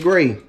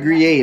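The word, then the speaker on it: Gruyère: I would have said gray. Uh-uh. I'm talking about Gruyere. That just sounds like fancy gray. No. Gruyere. Okay. Rhyme with okay.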